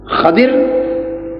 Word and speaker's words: خضر: یہ لفظ جو ہے اس کے 3 اعراب ہیں، سمجھ لیں، خضر، خضر اور خضر، تینوں طرح جائز ہے۔ حضرت خضر علیہ السلام اور خضر اور خضر، یہ خضر، خضر اور خضر 3 تلفظ ہیں، تینوں طرح درست۔ معروف تلفظ خضر علیہ